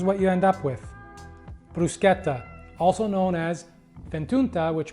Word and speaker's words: bruschetta: is mushroom and ricotta bruschetta and yes it's pronounced bruschetta not bruschetta now you may associate brusqueta with the ever